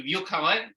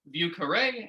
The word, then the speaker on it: Vieux Carré: In Anglicized French, it would be Vieux Carré. And in New Orleans French, it is Vieux Carré, which is the name of the neighborhood as it is pronounced in the local patois.